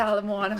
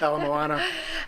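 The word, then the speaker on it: Ala Moana: PR Alon lawn Mall no it's not the alamona mall not how you pronounce it alamana yeah Alam Moana and your diamond head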